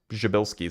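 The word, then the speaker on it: Przybylski: Jabilski star. That's how you pronounce it, by the way.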